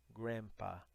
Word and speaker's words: grandpa: transcrição fonética mais britânica, mas na americana é como se fosse só um M, né? Grandma, grandpa, né? O dele, ele fica um pouco mais discreto, tá? Na pronúncia americana. Então, grandpa, tá?